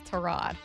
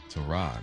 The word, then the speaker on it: Tyrod: He was like, I just kind of let people roll with it, but it's Tyrod. Tyrod.